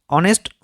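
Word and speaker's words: honest: অনেস্ট হচ্ছে H silent.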